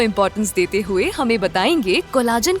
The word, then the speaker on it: collagen: नहीं, ये कोलेजन ही है इसका।